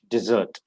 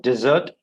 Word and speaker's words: dessert: you like to have a dessert d dih dessert dessert and desert first one dessert second one desert okay that's how you pronounce okay so children like desserts that is